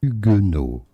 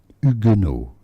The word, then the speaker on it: Huguenot: Huguenot. The H is silent, so do not pronounce it. Huguenot.